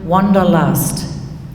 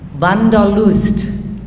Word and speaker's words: Wanderlust: might have learned you heard of the word wanderlust that's actually a german word van der lust that's how they say it in germany and it's interesting you